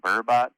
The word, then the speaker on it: burbot: in Michigan is the eel pallet or the burbot. It's like a freshwater cod. Uh, call it poor man. How do you How do you pronounce it? Uh, call it burbot.